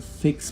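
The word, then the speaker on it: Vicks: Or when VIX launched in Germany, it should have known that V is pronounced with an F sound in German, and that fix sounds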